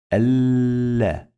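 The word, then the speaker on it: الله: We pronounce lam 2 times. Allah. So we have shadda here. Allah.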